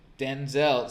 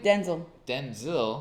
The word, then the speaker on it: Denzel: So, Denzel. See, this is the thing. Denzel. Denzel. Who's Denzel? That's how his name is originally pronounced. Oh, wow. Denzel. Yes, like it was Denzel like Washington.